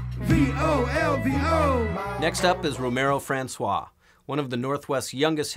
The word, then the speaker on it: Franceswa: my name is Romaro Franceswa, it is spelled R-O-M-A-R-O Franceswa like France the country, then S-W-A.